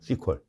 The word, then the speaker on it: SQL: 뭐 이번에 SQL 나왔는데 SQL은 다 아시죠?이 SQL이라고도하고 발음할 때는 그냥 현장에서 전문가들끼리 발음할 때 그냥 시컬이라고도 그래요.